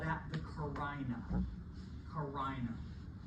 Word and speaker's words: carina: Carina. Not carina, I've had some creative ways. Not carina, but carina is the pronunciation for that split.